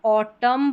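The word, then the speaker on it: autumn: यहां पर जो एम और एन है लास्ट में तो ऑटम पढ़ते हैं। यानी कि न यहां पर साइलेंट रहता है। ऑटम न नहीं पढ़ते। ऑटम।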